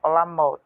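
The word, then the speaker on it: עולמות: né que é os como os judeus dizem certo eles pronunciam né no hebraico olamot que é mundos OK depois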